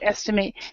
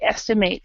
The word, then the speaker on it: estimate: estimate now there there's there's two pronunciations for this this word uh now we when it's the verb we say estimate to estimate okay now uh as a as an a noun it would be an estimate so we have an estimate can well are you